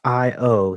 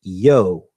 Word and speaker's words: io: the interjection IO is pronounced either with two syllables i o or a single syllable with the I becoming and pronounce yo Jo or yo these